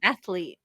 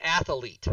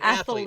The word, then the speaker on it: athlete: plays professional sports an athlete right and it's not an athlete right it's not it's an athlete it's two syllables that one's forgivable though